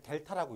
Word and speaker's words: 델타: 얘를 델타라고 읽습니다. 뭐라고 읽는다고?